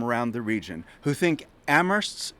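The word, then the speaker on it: Amherst: probably know the slogan ammer Where only the H is silent it's not only a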